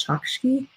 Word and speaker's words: Chokshi: I mispronounce her name every time. I think it's Chokshi. I always think... of Violet Chachki from Drag Race, but I know that's not how you pronounce her name, the author of The Gilded Wolves.